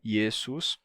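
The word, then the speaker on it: Iesus: em outra língua e em latim ele terminou ficando assim yesus que tem o s no final assim como em grego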